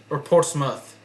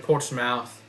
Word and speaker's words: Portsmouth: And then Portsmouth instead of Portsmouth.